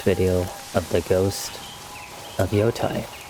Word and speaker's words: Yotei: But until then, I hope to see you in the next video of the ghost of Yotai. I know it's pronounced Yote or whatever, but it's just Yai.